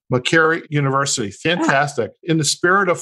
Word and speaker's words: Makerere University: And the university in Uganda, how do we pronounce that? Makerere University. Makerere University.